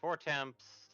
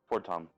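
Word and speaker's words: Fortemps: Admittedly, we missed the introduction of House Four Temps, the social hierarchy of... Fortom. Fortom? It's French. Fortom.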